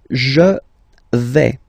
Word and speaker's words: je vais: The first form is je vais. Okay, so remember, final S not pronounced here. Je vais. Okay, when you combine this AI, you get the sound A, really open, okay?